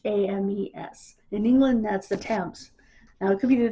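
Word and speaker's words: Thames: England t h Mes in England that's the Tams now it could be the tames in Connecticut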